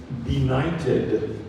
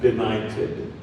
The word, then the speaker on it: benighted: Your word is benighted. Benighted. Can also be pronounced benighted. Benighted or benighted.